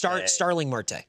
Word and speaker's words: Starling Marte: Marte. Sterling Marte. Starling Marte.